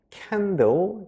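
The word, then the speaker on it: candle: 위해서 양초도 같은 켜 놓죠 양초 영어로 캔도 캔들 이렇게 발음을 하는데요 따라 읽어주세요 양초 아주 잘해주셨어요 앞에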